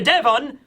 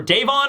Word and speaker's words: Devon: And it turns out he lands, coincidentally, in fact, right next to Katarina Devon, or Davon. I think it's Devon. I think it is. I've been mispronouncing that the whole time, but whatever.